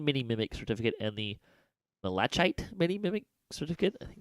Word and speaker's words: Malachite: Also, they added back in the the Mundane Mini Mimic Certificate and the Malachite Mini Mimic Certificate. I think that's how you pronounce that. Malachite.